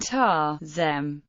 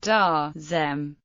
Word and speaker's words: Taoism: In speech, Tao and Taoism are often pronounced ta and ta-zem, reading the Chinese unaspirated Lenash t as the English voiceless stop consonant t.